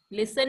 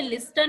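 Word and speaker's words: listen: same लाइक this लिसन लिसन में हम टी कहीं पे बोल रहे हैं टी ई एन 10 होता है लेकिन हम इसे लिस्टन नहीं बोलते ना हम लोग इसे लिसन बोलते हैं क्लियर मैम टी पे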